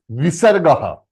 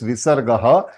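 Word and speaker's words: विसर्गः: The sound of this Visargaha is half her. Means what, sir? Half her. Means if it is attached with A, then her. A, her. But her, you have not to pronounce completely. You have to pronounce half.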